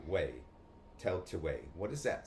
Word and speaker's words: Tailtiu: Tell to way.